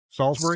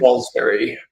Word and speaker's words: Salisbury: How do locals pronounce the name of that town? Salisbury. Salisbury. Yep, Okay. Salisbury. Like Salisbury steak, I guess.